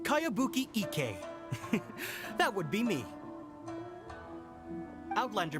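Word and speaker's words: Kayabuki Ikka: one i've never heard of it hmm by cowabunga icky your mia this is a really strange name who's this cowabunga it's pronounced kayabuki ek that would be me outlander brigade is a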